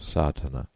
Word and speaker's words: Sadhana: A word may be added about the pronouncing of Sardana. The accent falls decisively on the first A which has the broad sound of the letter.